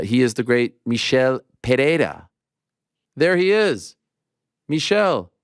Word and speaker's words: Pereira: ah so it's the when it's a double r Double R you pronounce R sounds like the r in the beginning of the word if that makes sense